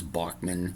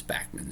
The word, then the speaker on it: Bachman: say it Turner overdrive I know there's people that are arguing it's bman I'm not going to argue with them I've known him as Bachman my whole life it's spelled Bach why like Bach but Randy insists that it's bman so I'm not going to argue with him it's his name right if he wants to be bman he can be a